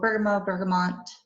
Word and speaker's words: bergamot: So bergamot, or mott, people pronounce it different ways, but so much.